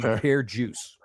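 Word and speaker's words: Per Djoos: And they said he pronounced his name Pear juice.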